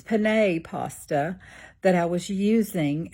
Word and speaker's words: Penne: come on and say uh I apologize for mispronouncing the word to my video today and I kept calling the pasta Panini like I was cooking on a panini press or something um when clearly it's pan pasta that I was using and I know